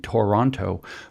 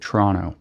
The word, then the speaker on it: Toronto: should be hooked on phonics and learn to pronounce the letters as they're written, Toronto, but which is how Chrystia Freeland just said it. But the fact of the matter is that Canadians don't pronounce it Toronto.